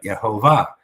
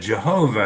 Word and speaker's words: Yehovah: you say it right, Yehovah. Sometimes people say, well, you said Jehovah and there's no J in Hebrew. Well, I'm speaking English. There is a J in English.